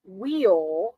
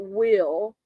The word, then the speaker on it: Wheel: If y'all haven't checked out Sterling Wheel, not Will, I was 41 years old when I realized I've been saying like wheel on a car. I've been pronouncing it wheel.